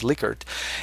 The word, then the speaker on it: Likert: People mostly call it the Likert scale, although the correct pronunciation is Likert.